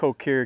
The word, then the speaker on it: Ker: however you say it I pronounce it kir because it's spelled with a K anyway we're going to